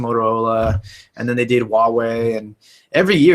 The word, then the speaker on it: Huawei: too um I think huawei's sort of reputation changed after that because up until then first of all we thought it was Hawaii we thought that was how we pronounced it second all all these